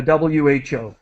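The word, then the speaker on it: WHO: I say the so if I'm referring to the World Health Organization I say the the wh just to let you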